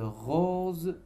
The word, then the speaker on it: roses: On a la lettre S entre deux voyelles et se prononce Z.